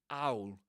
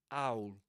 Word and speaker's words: owl: This is called glottal reinforcement because it's pronounced you know there's a there's a sound here called glottal stop being pronounced at the beginning of owl owl which is been which